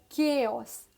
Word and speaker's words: chaos: जब आप confused होते हैं, that situation is called chaos. C-H-A-O-S. Chaos. Chaos. So heavy end with the list of mispronounced words.